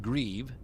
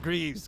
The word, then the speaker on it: Grieve: So Richard Grieve, hopefully I pronounced his name correctly. One time he's like, "Mate, you're not pronouncing my name right." I'm like, sorry. I think he's like, "It's Grieve, not Greaves. Grieve."